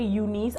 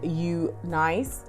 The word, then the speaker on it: UNice: hair or you nice i don't know why people say unis i would actually pronounce it as you nice wouldn't you i am going to